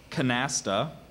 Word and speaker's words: canasta: a similar word so the pronunciation is Canasta and it's a card game that is a form of rumy played usually as a two-hand or a four-hand partnership game using two full decks plus four Jokers canasta are there any other pronunciations uh I also have Canasta Canasta Canasta may I have the